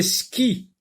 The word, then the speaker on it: skis: Des skis, ski, j'entends S, je souligne. C'est le premier S qui se prononce. Le S à la fin ne se prononce pas.